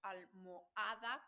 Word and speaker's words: almohada: con sus palabras tendríamos Almohada con h con una H que no se pronuncia vale Y con una